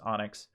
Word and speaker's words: ONNX: easiest way we'll take this onnx file which is probably pronounced onyx and then we're going